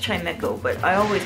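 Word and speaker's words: Chimchar: get that chime Cho I know it's it's pronounced chimco but I always call it Chim Cho as a kid can I fight the Chim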